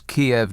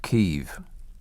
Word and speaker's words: Kiev: what did you mean when you said it's kiev not keeve you see the thing about it is the west and west we have always called it kiev three or four weeks ago to be clear